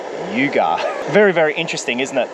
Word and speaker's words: Yugar: way to the end he wrote Yuga that's how you pronounce it I said to the ly at the information center I said yeah the Yaga tunnel she goes you mean Yuga very very interesting isn't